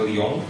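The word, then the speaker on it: Lyon: pedagang di kota Lion tulisan Lon bacanya Lon Prancis bagi-bagi Alkitab lagi saya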